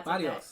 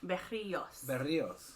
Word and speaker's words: Berrios: Yeah, Berrios. Yeah, Berrios. Yeah. Berrios. Yeah. Like so, like, roll the triple R's, right?